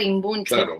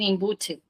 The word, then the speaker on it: imbunche: De hecho, después nos arrepentimos porque mucha gente fuera de Chile no sabe pronunciar imbunche. Acá en España le dicen imbuche, por ejemplo, ¿no? Eh, la N, la C, no no pega mucho y y no sé,